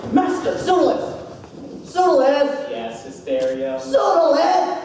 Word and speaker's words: Pseudolus: Pseudolus! Pronounced perfectly. You know, a lot of people say Pseudolus, and I hate it.